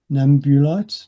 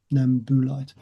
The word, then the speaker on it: Nambulite: Nagashima light nakodi nambulite Nambulite not Nambu that's um one of the problems with uh if you're Australian or probably American as well is you'll pronounce things the way you read them which is not necessarily the way it should be pronounced so it's namu because buu is bu sound nambooite In actual fact, interestingly,